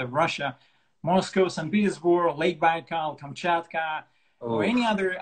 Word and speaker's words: Baikal: Lake Baikal. Lake Baikal.